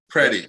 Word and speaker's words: Predey: last name i don't forget ready freddy pretty pretty pretty is here and it is